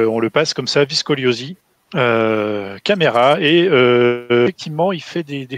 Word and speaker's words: Caméra: Caméra en français, avec un accent. Caméra, oui. Pas comme la chambre en italien.